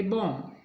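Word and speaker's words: bomb: तो बी रहेगा साइलेंट जैसे बी ओ एम बी अंत में एम बी है इसको पढ़ेंगे बम सीओ एम बी एम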